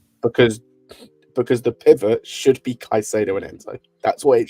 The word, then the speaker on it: Caicedo: Caicedo.